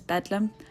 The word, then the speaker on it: Bethlehem: known as bethlehem hospital londoners later abbreviated this to bethlehem and often pronounced it as bedlam like the phrase absolute